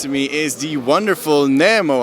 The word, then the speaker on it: Nemo: like some people say Nemo some people say Nemo and I say also Namo more so it's was